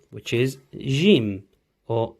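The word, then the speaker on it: ج: The first intonation for the fathatain would sound like jen, jin, and jun. So for the fathatain, it's jen. Kasratain, it sounds like jin. And for the dhammatain, it is jun.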